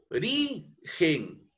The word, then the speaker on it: origen: La palabra origen es una palabra grave, ¿no? Porque si dividimos nosotros entre sus sílabas componentes origen, la máxima entonación en esta eh entonación de voz es eh eh la sílaba ri, ¿no es cierto?